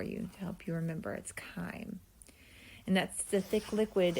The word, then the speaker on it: chyme: chyme again a science we're going to use the ch like we did with trachea and bronchi um is going to be ch y in e and it's pronounced chyme i put the little